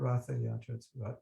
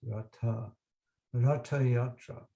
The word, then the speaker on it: Ratha Yatra: It's not Ratha Yatra, it's actually pronounced Ratha Yatra.